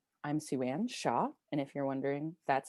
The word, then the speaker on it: Shiah: I'm SueAnn Shaw, and if you're wondering, that's how you pronounce it. It's Shaw.